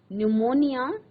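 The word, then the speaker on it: pneumonia: न्यूमोनिया, जिसको हम हिंदी में निमोनिया कहते हैं, इंग्लिश में इसको न्यूमोनिया कहते हैं, और पी इसमें साइलेंट है, NEUMONIA, न्यूमोनिया।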